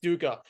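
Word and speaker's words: dukkha: to me was this uh concept of um DACA do I that I pronounce that right yes duka and um can you kind of break that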